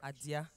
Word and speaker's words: Adia: for asking few people asked that the correct pronunciation of my name is adia yes hi everyone you guys don't look happy